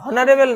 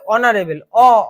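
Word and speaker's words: honourable: কারণ উচ্চারণটা হনারেবল নয়, এটা হচ্ছে অনারেবল।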